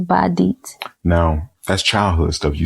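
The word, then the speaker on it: Badeat: Okay, so it's B-A, that's one word, and it's D-E-A-T. Okay. Or it could be, they spell it that way, or to help pronounce it, it could be D-E-E-T. So it's Badit.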